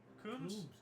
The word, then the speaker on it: Coombs: Coombs? Coombs, okay. Is it a B on the end? Coombs? Yeah. Like comb, but another ooh, began a 5,193-mile roller skate from Los Angeles to New York City.